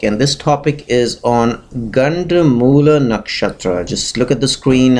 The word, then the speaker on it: Ganda Moola nakshatra: And this topic is on Ganda Moola nakshatra. Just look at the screen and try to pronounce it.